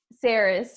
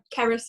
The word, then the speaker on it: Cerys: If you say it in a Welsh accent, it's like CERYS, but CERYS is fine. CERYS.